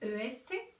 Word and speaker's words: est: Le petit mot qui s'écrit EST et qui se prononce est encadré en rouge dans toutes les phrases.